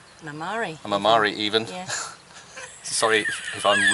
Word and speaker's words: Marmari: Yeah, first stop to Sunion, then to Porto Rafti, and then to Marmarai. Mamari even. Yeah. Sorry if I'm ruining the Greek pronunciation of all your beautiful little towns and villages.